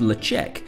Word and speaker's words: Ledaig: tell you about the distillery itself the oft mispronounced leche is the original scottish gaelic name of the